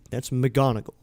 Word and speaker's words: McGonigle: So it's spelled McGonigle. That's McGonigal. McGonigal.